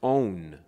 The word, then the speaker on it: On: the god of heliopoulos cuz if you notice on is what you do when you turn your light on on on on is how you really pronounce it on so those who have